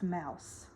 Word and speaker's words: Maos: The name came from the stone itself, and the letters MAOS, pronounced mouse.